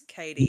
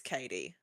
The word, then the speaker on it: Katie: So, you're not the first person and almost everyone new that I speak to asks, "Is it Kate or Katie?" It's Katie. For everyone listening, it's Katie.